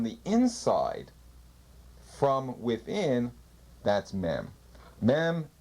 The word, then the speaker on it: mem: open up from the inside from within that's mem pronounced m means water C mother in Hebrew as